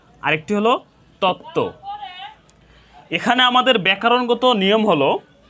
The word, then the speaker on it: তত্ত্ব: যুক্ত ব্যঞ্জন বর্ণের সাথে বফলা সংযুক্ত হয়েছে যুক্ত ব্যঞ্জন বর্ণের সাথে বফলা সংযুক্ত হওয়ার কারণে এখানেও ব ফলার উচ্চারণ হয়নি তত্ত্ব তো এখানে আমরা আরো